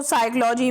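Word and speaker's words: psychology: मैं और नाइफ है तो साइकोलॉजी में पी लेटर साइलेंट होता है कॉलम ए लेटर साइलेंट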